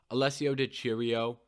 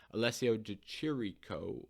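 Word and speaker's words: Alessio Di Chirico: good fight to make alessio di cheerio that's not how you say his name but that's what comes out of my mouth every time i read his name alessio de chirico oh man um i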